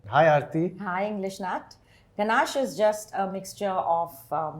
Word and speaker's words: ganache: The pronunciation of certain chocolate-related words. Let's start with ganache.